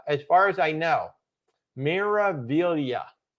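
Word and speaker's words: Meraviglia: far as I know Mira Villa I believe the g is silent miravillia is what uh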